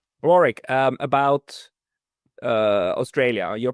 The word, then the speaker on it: Warwick: Um the English pronounce it with a silent W in the middle and the Americans tend